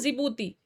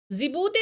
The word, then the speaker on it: जिबूती: डी से हो गया जिबूती जिबूती देखिए कंट्री बोलने में तो जा से शुरू हो रहा है पर इसकी स्पेलिंग जड या जे से शुरू ना होक डी से शुरू होती है तो ये चीज आप